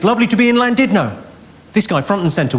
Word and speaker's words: Llandudno: like thunder when it's not land did not you bloody fool its plan did not in Wales the Double L is pronounced with a sea I said all right